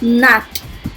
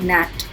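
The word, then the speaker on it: gnat: जैसे नैट, जी से शुरू होता है लेकिन हम उसको बोलते हैं नैट.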